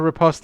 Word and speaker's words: riposte: Come on, I can repose this. I can repose this and kill it. Ah, you can. Repose! You can only have a riposte if you pronounce the T.